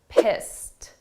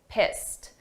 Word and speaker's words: pissed: Let's look at the pronunciation of pissed, because here this is an ED, a past simple verb, but the sound of that ED is a very soft T, pissed, pissed.